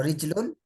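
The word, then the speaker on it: رِجْلٌ: Jadi Ya, ya, tulisannya ya. sama nih, Ya, tapi nanti cara bacanya beda. Ya. ya. Rojulun, ya berarti laki-laki. Kalau rijlun, kaki. Tapi kalau dilihat dari tulisan, Kaki. sama.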